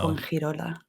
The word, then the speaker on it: Fuengirola: will be amazing to hear you pronounce. Oh It's no. Fuengirola.